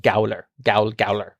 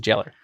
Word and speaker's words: gaoler: That's and even like you could like Gaol is jail and jailer, but it's like Gowler. You're the Gowler. Yeah. Mm-hmm. But they pronounce it jailer.